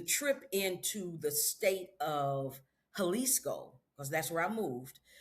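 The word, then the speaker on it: Jalisco: And the trip into the state of Haliscoco cuz that's where I moved to Halisco was sounds like an H but it's spelled with a J you know Spanish thing.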